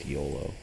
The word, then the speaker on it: Iolo: Just confirmation that it's supposed to be pronounced Iolo. And of course I just can't do that, even though it totally makes sense based on the way it's spelt and the history of the name and everything like that.